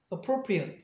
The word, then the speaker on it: appropriate: 그래서 immediate 이렇게 발음을 해요. 예를 들면 이것도 형용사일 땐 말이에요. 이때 it으로 봐. appropriate 이렇게 하면 형용사가 된단 말이에요.